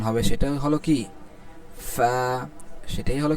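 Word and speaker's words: قاف: এটার উচ্চারণের মাখরাজটা বলা হচ্ছে জিহ্বার গোড়া তার বরাবর উপরের তালুর সঙ্গে লাগাইয়া। জিবার্বার গোড়ার উপরের তালুর সঙ্গে লাগায়া উচ্চারণ হবে কি? ক। দেখেন আমাদের কিন্তু উচ্চারণটা ঠিক সেখান থেকে হচ্ছে।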